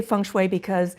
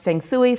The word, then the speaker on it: feng shui: and by the way i say function that's the mandarin pronunciation it can be pronounced Fang Tsui fun SOI Fon schooi it just depends upon the dialect so you really can't